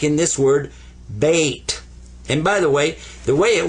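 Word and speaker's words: بيت: Not always, but in this case, this one gets ba. This gets a sukoon. What's a sukoon? Sukoon means don't pronounce it, but give it some value anyway. This is bait. Bait, house. Bait, house.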